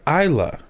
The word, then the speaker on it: Isla: right isla fisher yeah why is there an s in her first name if it's pronounced isla because it's not american i was like not american